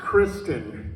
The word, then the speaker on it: Christynne: totally mispronounced my name this is Kristen t-y-n-n-e is a soft vowel so let's let you